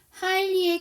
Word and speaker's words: highly: 하일리의 GH가 있고 코프의 GH가 있는데 두 개의 GH 발음이 동일한가요? 그쵸? 하일리의 GH는 묵음이고요.